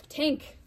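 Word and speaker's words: Tangk: Tank, the word pronounced tank with a whiff of the G, began as an onomatopoeic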